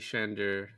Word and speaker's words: Chandor: He's normally the Denis guy, but today's the JC Shandor. Shandor? How do you Shandor?